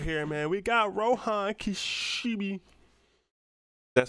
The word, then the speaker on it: Rohan Kishibe: All right, as you see right here, man, we got Rohan Kishibe. That's how you pronounce his name, man.